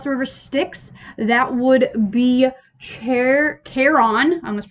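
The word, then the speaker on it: Charon: styx that would be chair carron i must pronounce it wrong or this video said if you want to be pretentious about it it would be heron and the c is silent or heron i don't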